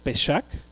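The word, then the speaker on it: פסח: revelación la palabra pascua viene del hebreo pejak pejak pesar así se escribe con jota al final y qué significa esa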